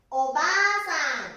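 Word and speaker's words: おばあさん: おばあさんですね。ここがあが 2 つだから、発音はおばあさん。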